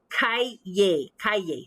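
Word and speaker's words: calle: means word means street so it's kaiye that's the spanish word phonetically in english that's how you'd write it but you know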